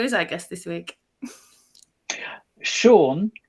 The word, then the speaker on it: Shaun: Shaun with a silent H.